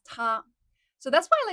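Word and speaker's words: 他: So like he, she, it all of them is pronounced are pronounced as ta.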